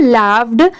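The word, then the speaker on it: laughed: एच ओ एम E home A एन डी एंड और ये है लाव्ड एल ए यू जी एच ई डी इसे हम क्या प्रोनाउंस करेंगे लाफ्ड अब जैसे देखिए इस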